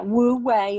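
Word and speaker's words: wu wei: spelling blue way again am i saying it right it yeah woo way it's w-u-w-e-i i just want our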